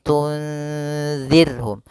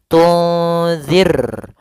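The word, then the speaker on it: تنذرهم: yang tipis dalam pelafalannya Jangan dibaca tunzir maaf ini tebal rnya harusnya tipis Tir Ar ya kalau ar itu tebal Ir ir tipis tunirhum kemudian la Yun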